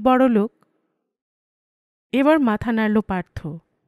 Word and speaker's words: পার্থ: পার্থ। পাত্তর? নো, পার্থ। পার্থ। Well, অনেকটা কাছাকাছি।